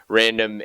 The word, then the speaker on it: RNDM: Yeah, it's called Random, which is spelled RNDM.